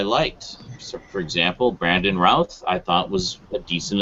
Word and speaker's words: Routh: Brandon Routh. It's Brandon Routh. It's Brandon Routh. His name. Routh. I looked it up. It reminds. So first, of somebody said in the chat, it rhymes with South.